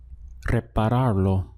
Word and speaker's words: repararlo: And the sound you get then is repararlo. Repararlo. There's quite a number of syllables there. So we have re, pa, rar, lo. Repararlo.